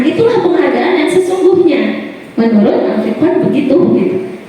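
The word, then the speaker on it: Alfie Kohn: Menurut Alfikon, bacanya Alfikon, Alfikon ini menurut pengamatannya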